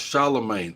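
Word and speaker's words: Charlamagne: thank you thank you okay she said it's pronounced Charlemagne oh Charlemagne he's Wendy Williams old sidekick when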